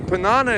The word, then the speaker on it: Panana: They have all funny names, but the Panana is really cool. It's like rhymes with banana and really easy to remember.